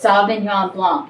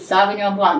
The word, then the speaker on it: sauvignon blanc: she was telling me how to say it sauvignon blanc inside repeat sauvignon blanc and she said yes and so i i